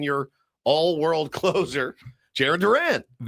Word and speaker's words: Duran: Yoan Duran. Duran. Duran. Duran. Okay. It's not like Duran. Duran. It's more like Don.